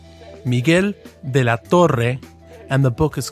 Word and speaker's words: Miguel de la Torre: Hi, I'm Manny Perez, and I'm editing this podcast, and I like to give Trip a hard time about pronouncing Spanish names. It's Miguel de la Torre, and the book is called The Politics of Jesús.